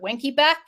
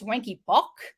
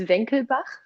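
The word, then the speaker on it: Wenckebach: butcher the name but ira has called it winky back apparently it's wanky bock but someone told me actually it's it's actually german it's venkelbach i got no one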